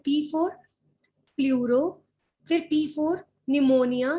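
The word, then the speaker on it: pneumonia: पूरो फिर पीप और निमोनिया निमोनिया में पी साइलेंट होता है लिफ्ट लाइक प्रोफ और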